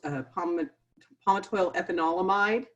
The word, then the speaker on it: palmitoyl ethanolamide: I break it into syllables, palmitoyl ethanolamide. Sounds about right.